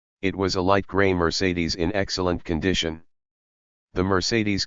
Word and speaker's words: Mercedes: gleaming gators and looked very impressive in the Mercedes. Alfred was always correcting us when we were talking about the car. or it's not pronounced merideds, but Mertz says dot that's how real automobile connoisseurs say it.